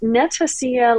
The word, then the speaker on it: Netacea: as Andy 2 over at Netacia uh which is pronounced Netacia like Panacea.